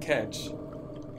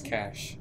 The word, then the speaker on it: cache: You don't catch. It's cash. It is? Yeah. What? I promise. What? I really promise. What's spelled like catching? Chemical stuff! Yay! But it's spelled like catching. It's C-A-C-H-E, which is like a cache, like a supply cache.